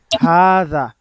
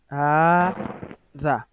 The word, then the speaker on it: هذا: L'élongation n'est pas marquée à l'écrit. mais à la prononciation, on doit le lire. طيب, il est bel et bien prononcé. Hada.